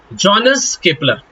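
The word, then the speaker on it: Johannes Kepler: ढपा था मतलब कि जनस केपलर जी हां जनेस केपलर या फिर जॉन केपलर आप कुछ भी प्रोनाउंस कर सकते हो यह एक प्लेनेटरी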